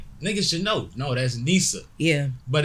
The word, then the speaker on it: Neesa: ] no no that's Nisa yeah but it's like baby some people know some people say my name wrong though too like they'd be like my name's not Nestle my name is Ikea